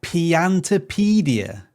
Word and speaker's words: Piantapedia: Oh, Piantopedia.